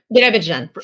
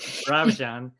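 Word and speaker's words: Birobidzhan: Birabijan. Birabijan.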